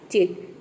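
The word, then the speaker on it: cheat: एच आ जाता है तो वहां पे सी को हम क्या प्रोनाउंस करेंगे च प्रोनाउंस करेंगे या फिर सी और एच दोनों को मिलाकर क्या प्रोनाउंस करेंगे च प्रोनाउंस करेंगे जैसे कि देखिए यहां पे है चिट सी एच का हो जाएगा च ई ए का हो जाएगा ई टी का हो जाएगा ट ये हो जाएगा चित चिट का मतलब होता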